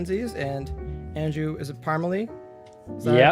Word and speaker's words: Parmalee: and andrew is it parmalee so you pronounce it yeah i was gonna ask you beforehand no it's not parmesan it's not parsley wanted to make sure